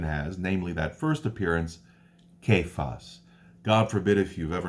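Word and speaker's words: Caiaphas: so these six appearances kaif us it's pronounced Kaif us the 12500 brethren James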